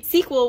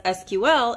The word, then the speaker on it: SQL: right now for free SQL which can also be pronounced as SQL is the easiest programming